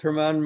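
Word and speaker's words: Germán: 27 both Herman Mark Herman and um Anthony league leaders though. Okay, so I said it wrong. German Herman, whatever.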